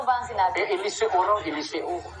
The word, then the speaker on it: Eliseo: Eliseo parang si si Mateo kung tawagin.